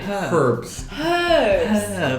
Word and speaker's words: herbs: we save herbs but the H is silent yeah but to peck